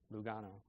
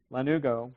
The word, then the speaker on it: lanugo: which is called lanugo I keep pronouncing it Lugano lanugo which is a fine